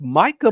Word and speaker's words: Micah: And and by the way, champ, do you know you have actually pronounced Micah Parson's name perfectly cuz in the past you've used to call him Mika Parsons.